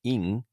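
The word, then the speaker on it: 淫: character for goat and the first character Yin is in Japanese pronounced in actually um and it's the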